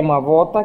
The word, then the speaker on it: Mabota: apelido da minha mãe, que é Mabota, que se escreve B, porque é ronga B, para se ler B, tem que se escrever B, com um traço por baixo do B, o acento circunflexo. Isto é B. Quando não tem, é V. E como não existe a